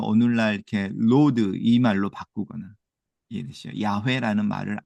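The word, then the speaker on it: Yahweh: 자음이 없고 그래서 이걸 어떻게 발음하냐라고 해서 여기에다가 그 주님이라고 하는 단어가 아도나이인데 아도나이 여기가 다 모음이 있잖아요. 아도 모음이고 노에도 오음이 있고 그걸 붙인 거예요. 여기다가이 단어에다 yhw에다가 그래서 여호와가 돼요. 제호바 이렇게 부르는데 이걸 학자들이 만들어 냈어요. 이렇게 발음했을 거야. 이해되시죠? 그리고 지금은 그냥 이거를 그대로 그냥 부르는게 더 맞지. 왜냐면 모음을 의도적으로 인위적으로 넣지 말고 그냥 그대로 부르자. 이래서 야회 이렇게 부르는 거예요.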